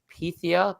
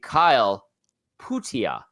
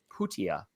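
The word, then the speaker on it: Pyyhtiä: did mention uh number 82 it looks like Pia but it's mik ptia and I remember reading that on the 28th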